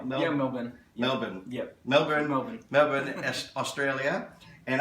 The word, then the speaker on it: Melbourne: Am I pronouncing that right? Yeah, Melbourne.